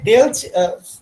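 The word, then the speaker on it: ∂: তো এখানে ডেল, হ্যাঁ এখানে ডেল আমরা নিয়ে আসতেছি, এখানে কিন্তু আমরা d উচ্চারণ করব না।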